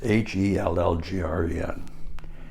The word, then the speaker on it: Hallgren: My dad's name was Hallgren, Hellgren, and he didn't like that Hell, even though it had a double umlaut on the top of the E, which is a Swedish way of pronouncing and saying things.